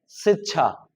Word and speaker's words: शिक्षा: पहला लिखा है शिक्षा। शिक्षा। ठीक? दूसरा लिखा है शिक्षा क थोड़ा सा फिर छ इस तरह से तो यह अंतर है